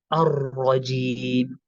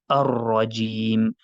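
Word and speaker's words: الرجيم: So we would say Ar-Rajim. Ar-Rajim. I'm not sure if you've heard that properly, but we would say Ar-Rajim. There's a slight repetition on the, so that's the question from Ishraf.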